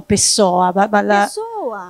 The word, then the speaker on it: Pessoa: la poesia di Fernando Pessoa. Noi diciamo Pessoa, what's the right pronunciation? Pessoa, e noi siamo vocalici, quindi diciamo tutto.